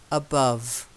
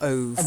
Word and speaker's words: above: Okay, and then this is one that you're always doing. Above. Not ove. Above.